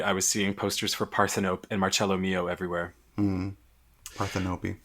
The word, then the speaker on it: Parthenope: I have an aunt Parthenope. Yeah. So you're saying I offended your aunt? No, I'm just telling you that that's how it's pronounced.